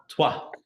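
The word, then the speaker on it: Troyes: in the city of tuah did I say that right did I really get that right yeah city of twah okay in English it's spelled Troys but it's TW t r o y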